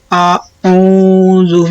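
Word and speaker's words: أعوذ: Ada perbedaan bunyi ya antara alif dengan ain ke hidung. Kalau a biasa, kalau ain itu a agak ke hidung. Qul a'udzu birabbil falaq.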